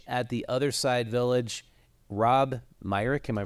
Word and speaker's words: Myrick: is a coach at The Other Side village Rob Myck am I pronounce that correctly yes you are thanks for